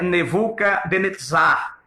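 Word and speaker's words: נבוכדנאצר: aconteceu através do rei Nabucodonosor que em hebraico é nevuca denetizar esse é o nome de Nabucodonosor em hebraico se em português é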